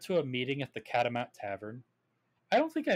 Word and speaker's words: catamount: But you're not pronouncing it like catamount. Cat of mountain. You're pronouncing it like cad a mountain.